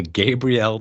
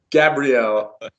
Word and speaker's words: Gabrielle: Berry and with me unfortunately as always the Gabriel to my Xena Warrior Princess Jeremy point it's pronounced Gabrielle your highness so so just for the record